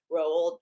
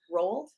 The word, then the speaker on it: Roald: coming up next here at the main stage rolled rolled yeah I just want to make sure we're